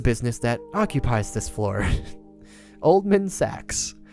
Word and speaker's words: Oldman Sachs: Oldman Sachs. Or as I imagine the devs prefer to pronounce it, Old Man Sachs.